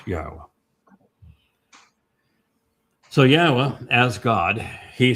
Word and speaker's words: Yahweh: It's Yahwa. And I don't give a crap what you want to believe that something else or that there's a different way to pronounce it. No, it is Yahwa.